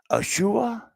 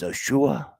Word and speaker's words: Yeshua: Yeshua is near.